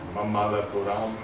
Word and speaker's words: Mamallapuram: Okay, and, so this is Mamallapuram in Tamil Nadu. Yeah, did I pronounce it correctly?